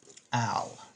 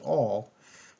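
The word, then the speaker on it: -al: not an O and don't pronounce it all because that's an alcohol so you want to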